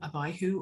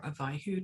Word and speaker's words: Abihu: israel aaron's second son abihu or avihu takes his name from the hebrew word ab meaning father so abyhu literally means he is my father he was a father